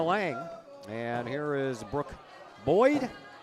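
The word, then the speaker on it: Boide: here is Brook Boyd had to ask the coach how you pronounced that last name CU he doesn't spell it like he would normally spell boy how is it spelled b o i d e looks like boey yeah so I asked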